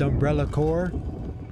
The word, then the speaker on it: Umbrella Corp: a rando would save umbrella corpse Let It Die oh my God these herbs dude did you know it's pronounced umbrella core I want to disrespect